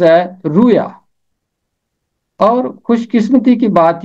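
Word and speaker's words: رؤیا: کے اوپر پیش، رویا۔ رویا کسی دور میں تلفظ ہوتا ہوگا، اور یہ پرانا تلفظ ہے۔ آج کل اس کا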